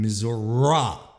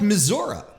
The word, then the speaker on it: Missouri: idea that there is a second way, another way to pronounce Missouri, as in Missouri. If he'd do reports from that particular state, the Show Me State, if I'm not mistaken, he'd call it Missouri.